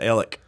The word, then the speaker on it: Alex: town right beside us it's spelled alex they pronounced it ellick and my miami oklahoma